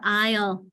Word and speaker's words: aisle: What about aisle? So that's French, Rita. And that silent S, it's the French one.